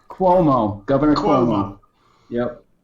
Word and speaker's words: Cuomo: what let's start with now how do you pronounce this other than kuhmo Cuomo Governor Cuomo yep not the word I'm thinking